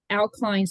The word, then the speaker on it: Au-Kline: And how do you pronounce that? Au-Kline Syndrome. Au-Kline Syndrome.